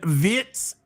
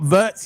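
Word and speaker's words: Wirtz: It's not vert. That's the way the English people do it. The proper way, the German way is Vitz. So, I'm going to call him Vitz.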